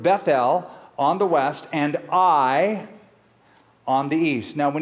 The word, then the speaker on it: Ai: tent with with beth-el on the west and i on the east now when you see that little word AI i've heard people pronounce at AI but it's pronounced i think i I or